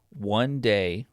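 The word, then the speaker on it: Wan'Dale: And I'm picking One Day Robinson is how you said it over Darnell Mooney.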